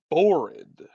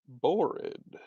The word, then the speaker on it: Borrid: So that means my character's name, should probably use a pencil, is Borid. Borid. Uh, Rhymes with horrid.